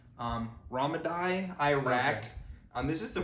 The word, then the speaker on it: Ramadi: I mean, yeah, this is based off the 2006 Navy SEAL mission that happened in, I believe it's pronounced Ramadi, Iraq.